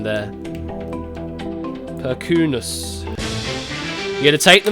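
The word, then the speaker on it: Perkūnas: Catnip is correcting my pronunciation there. Perkunas.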